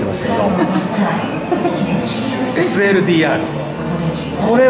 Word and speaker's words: SLDR: た SLDR 身から SLDR と読みますこれ僕なんかスライダースライダーとか言ったらスライダーじゃありませんってあのテーラーメイドの